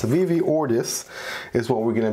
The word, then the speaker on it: Ortis: ortis right at first I thought it was pronounced Ortiz right because I know in Spanish that is uh some of the people I know's last name but uh apparently it's pronounced ordis so it's Vivi ordis is what we're going to be unboxing today